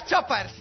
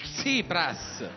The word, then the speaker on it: Tsipras: Ed è per questo che volevo fare i complimenti alla lista Tsopras. Tsipras. Tsipras. Tsipras. Tsipras. Tsipras. Krepak. Tsipras.